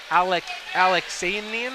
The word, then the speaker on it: Alaxanian: So we have an undefeated 2-0 fighter in Nick Ross against a 3-6 Cole Alaxanian.